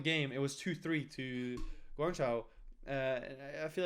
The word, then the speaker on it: Guangzhou: think both New York and, no, I didn't pronounce this correctly, Guangzhou charge. Guangzhou.